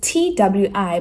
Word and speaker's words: Twi: It's Twi, but my husband told me you pronounce it Twi.